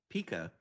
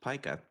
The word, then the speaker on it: Pica: And you pronounced it correctly because sometimes people think it should be Pica. I don't know why, but it is pronounced Pica.